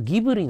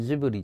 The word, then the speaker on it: ジブリ: んだよねだから g が入ってるんでギブリぎぶりって発音するんだけどその宮崎駿さんが読み末だって自分にジブリって言ってジブリがイー